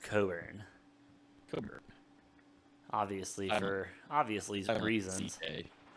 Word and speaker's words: Cockburn: excuse me it does it is spelled phonetically like cockburn but it's pronounced coburn obviously for obviously some